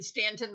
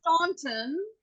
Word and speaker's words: Staunton: If it's Staunton, it is But not it's Staunton. It's It is Stanton. Stanton. There's Staunton, Missouri, Staunton, Pennsylvania, Staunton, other places. It's Stanton here.